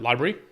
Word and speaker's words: LBRY: How do you say, like library? Yeah, I guess so, yeah.